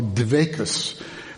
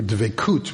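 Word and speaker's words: דבקות: It's what in Hebrew/Yiddish they would call dvekus, which is the Yiddish pronunciation of the Hebrew dvekut, which is clingingness, connectedness to God.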